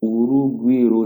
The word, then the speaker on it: Urugwiro: Et là, bingo, elle est l'attachée de presse pour Urugwiro Village. Je sais que c'est comme ça que ça se prononce.